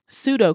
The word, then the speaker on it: pseudo: I call it the BAP model, biblical Christianity, American Christianity, and um, pseudo Christianity. I know it sounds like an S, but it's spelled Psuedo.